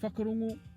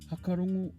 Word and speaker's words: whakarongo: So if we take the word whakarongo, the way I just pronounced it is typical of a lot of iwi around the country, pronouncing the WH as f. However, you might also hear whakarongo pronounced as hakarongo or wakarongo.